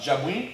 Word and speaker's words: Jabouin: Garza, I guess, submitted Jabouin, is how you pronounce his name.